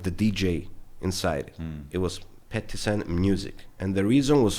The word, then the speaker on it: Pettis N: different, I was like, "Okay, I'm going to pronounce myself as a DJ Petissen, but my logo I will make it stand out and I will do it Petissen music, like Konvict music."